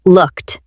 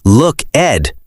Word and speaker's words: looked: Oh, let's look at the past tense looked. The ed sounds like a t sound at the end. Yes, we do not say look, Ed. We say looked. It ends with a sharp t sound.